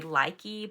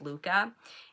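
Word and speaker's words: Lykke: It's spelled L-Y-K-K-E, and so I like to say likey, but it's actually pronounced Luca.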